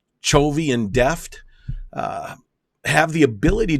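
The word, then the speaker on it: Chovy: their core of Sascha k-- i believe it's pronounced cho v and deft have the ability to be a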